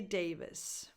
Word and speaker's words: Davis: This vowel is a lax E, but also a schwa, because the stress goes on the first syllable, on day. Davis. So it's unstressed, so it's in between a lax E and a schwa, and frankly, when you pronounce it, there's no difference.